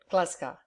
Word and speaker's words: Glasgow: he'd been a farmer Glasgow way mcki still pronounced it glasa and my mother was